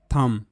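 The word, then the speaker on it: thumb: এইচ ইউ এমবি থাম থাম দেখো অনেকেই এটাকে থাম বলে কিন্তু এটা থাম মানে বি এখানে সাইলেন্ট থাকবে ওকে থাম তারপরের শব্দ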